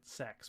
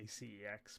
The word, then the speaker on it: CeX: but we also have cex or how they pronounce it sex because you know humor and it's spelt CX and I always say CX because but they do that that's kind of